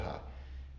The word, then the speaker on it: aroha: So aloha is the Hawaiian, we always say aloha, but Aloha. aroha is how Tahitians pronounce it, and it means love.